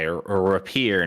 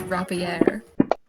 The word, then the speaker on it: rapier: I'm going to attack him with my rapier now. I don't think that's how it's pronounced. He gets to you first. It's rapier.